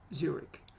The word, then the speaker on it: Zurich: Co Yokohama and Zurich Zurich like many places or many names proper names that finish with ch they are pronounced with a cut us in architect yes Zurich buck Johann Sebastian